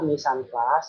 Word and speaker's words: mise en place: Kalian sudah tahu ya, mise en place itu adalah berasal dari bahasa Prancis atau French pronunciation is mise en place.